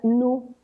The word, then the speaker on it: Nu: Primero, porque ni argumentan que se pronuncia nu en los países anglosajones y esto se podría confundir con la palabra new, que es nuevo.